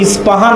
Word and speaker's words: ইস্পাহান: আমরা প উচ্চারণ করি ইস্পাহান, আরবিতে এটা উচ্চারণ হয় না।